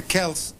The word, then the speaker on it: Celts: before rome the celts as scholars tell me i should pronounce the words cells the kels had were the ascendant